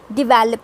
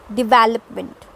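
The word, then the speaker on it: develop: टो डिवेलप पर इट्स डिवैलप पर आ D episode दोगे कन्वेंट कम्स टू डिवैल्पमैंट ठीक है है और राइट आपको समझ में आया तो दिस इज नॉट डिवेलप जिस डिवैलप ओके तो हैं लेट्स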